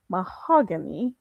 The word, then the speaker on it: Mahogany: Did I pronounce that right? Mahogany.